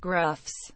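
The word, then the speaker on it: grough: Pete Mand seed by grow pronounced Gruffs water eroded channels in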